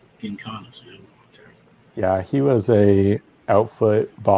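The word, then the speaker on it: Giancana: How do you pronounce his Gincana. last name? Gincana.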